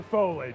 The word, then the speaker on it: foliage: Is it foliage or foliage? It's foliage. Foliage. It's three syllables.